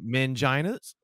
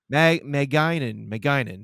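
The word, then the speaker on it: magainin: They're called manginas. No, hold on. It's pronounced mangine. Maginin. That's what it is. Yeah. Not mangina.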